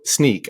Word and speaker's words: Snyk: out and uh but we'll spell it with why like the cool kids do and and so SNY YK and I googled it